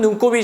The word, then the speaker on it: 눈곱: 자 눈꽃이라 많이 쓰는데 눈곱은 발음은 눈꼽이 이제만 눈곱이 표준입니다 눈곱이 그래요 자 마지막